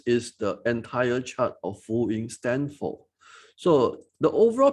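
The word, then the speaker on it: Fu Yin: So it's pronounced as F-U-Y-I-N, full-in.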